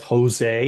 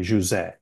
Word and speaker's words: José: Jerry just recently discovered that because I'm Portuguese, you don't actually pronounce it as Jose, even though that's fine. That's what I That's how go you've by. defaulted. Yeah. But yeah, in Portuguese, it's actually José.